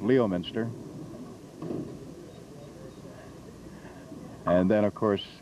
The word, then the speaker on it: Leominster: country and suddenly have a story coming out of Leominster that usually came out Leominster and then of course